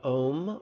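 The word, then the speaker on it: ॐ: is in our relaxing the first syllable of the om rhymes with home and it's a syllable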